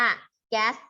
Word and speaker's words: ก๊าซ: ซึม ก๊าซ คาร์บอนไดออกไซด์ นะ อัน นี้ อ่าน ว่า แก๊ส คาร์บอนไดออกไซด์ นะ คะ กลับ บ้าน แถว สาย